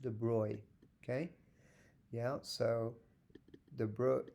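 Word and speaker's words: de Broglie: pronounce this it's a French name de is pronounced de Bry okay yeah so the Bro the BR is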